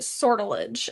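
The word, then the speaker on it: sortilege: Uh, I believe you pronounce it. Sordilage is how you pronounce it.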